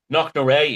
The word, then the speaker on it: Knocknashee: Do you pronounce it Knocknashee? Is that right, Thomas? Knocknashee, yes.